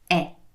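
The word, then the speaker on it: è: spelling in your mind isn't that very similar to the word for and but the pronunciation is different that word is e now don't worry about how you pronounce it that's what we're going to do that together but i want you to visualize the spelling of and and it is and realize that they are very similar in spelling but their sound the pronunciation is different and their meaning is very different because with one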